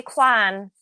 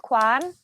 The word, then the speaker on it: Kwan: I would say and with my accent I would say Quan because it's my accent. You're Quan. But with the Derry accent, it's Quan. But you didn't say Quan.